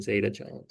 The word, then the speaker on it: zeta: and this last one I think is zeta yeah like katherine zeta zeta okay so alpha is the intercept here Right?